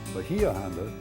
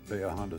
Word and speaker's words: Bahia Honda: Also, you notice we and park personnel pronounce the name Bahia Honda, which is how local folks pronounce it. Bahia Honda is also correct.